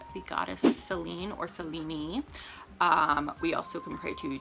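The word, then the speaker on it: Selene: goddesses lunar goddesses uh celine or cellini as her name is actually pronounced but i'm just going to call her celine because that's kind of the modern way to uh pronounce her name and that's what i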